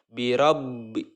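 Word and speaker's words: بِرَبِّ: kita cara membacanya itu harus tertahan ya harus tertahan ditekan bacanya biro-biro besar laba pertama disukunkan kemudian dilanjutkan kebayang berharakat kasrah birabbi birobinas seperti itu Tahan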